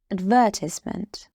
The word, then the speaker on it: advertisement: Advertisement. It has 4 syllables. Ad, ver, ties, ment. And the stress of this word is on the 3rd syllable, on ties.